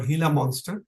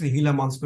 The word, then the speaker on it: Gila monster: bites by this particular reptile which is called hila monster is pronounced hila monster which written as Gila monster pronounced as hila monster and this hila monster spit had a substance